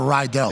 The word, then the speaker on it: Riddell: It's called a Rydell. The riddle. Tony, what do you call a helmet that's made by a company that's spelled Riddello? I feel like it depends on the moment. Some people sometimes may call it riddle.